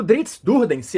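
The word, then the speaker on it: Drizzt Do'Urden: hoje Então olha lá o drinks durdence é que é assim que se pronuncia tem diferente maneiras aí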